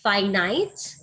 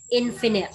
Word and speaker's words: finite: Again, we repronounce it as finite and infinite.